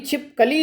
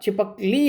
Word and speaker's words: छिपकली: के साथ बोला जाएगा, इसलिए बलाघात होगा ली पर, ली ल के बड़ी ई की मात्रा पे, ठीक है, क्योंकि स्वर पर ही बलाघात होता है, इसलिए इसका उच्चारण भी छिपकली ना होकर छिपकली होगा, ठीक है।